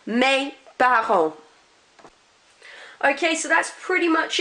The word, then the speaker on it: parents: Notice T and S at the end, I'm not pronouncing them, they're part of our PDTS rule. Mes parents.